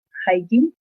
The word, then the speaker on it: Haijin: El artista del haiku se va a llamar Haijin, que es Haijin, Haijin sería la pronunciación.